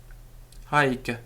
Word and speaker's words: haec: peculiar in Latin because they are spelt with one C at the end of the word, but the Roman grammarians are quite clear that they are pronounced with a double C, particularly before a vowel. So hic, haec, hoc, meaning this.